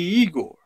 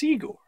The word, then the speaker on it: Igor: see you must be Igor now it's pronounced I go but they told me it was Igor but they were wrong then one thing well